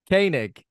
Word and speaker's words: Koenig: then for Walter how do you say certainly Koenig Koenig okay so pretty strong 1989 then all in